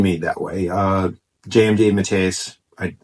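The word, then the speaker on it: DeMatteis: that way uh JJ Matas I I said his name wrong the first time I said matis it's Matas mat J Matas uh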